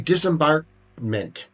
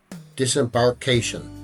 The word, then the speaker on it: disembarkation: Priority disembarkment. Disembarkation. That's how you say it.